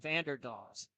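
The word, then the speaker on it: Vanderdonckt: That's how you say it. Vanderdonkt.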